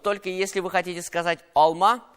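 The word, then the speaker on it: алма: Вот только если вы хотите сказать alma, в смысле яблоко, ударение должно падать на второй слог. Alma.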